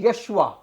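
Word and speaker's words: ישוע: اور اب یہ جو نام ہے یسوع، عبرانی زبان میں اس کا جو تلفظ ہے وہ ہے یشوا، اور یشوا کا سکولرز کے مطابق 2 بنیادی اس کے معنی بنتے ہیں.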